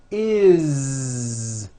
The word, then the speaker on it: is: always add the ending is with a voiced Z. Is. It doesn't matter that it's spelled with an S. It's never is, unvoiced, never. It's always is with a voiced Z.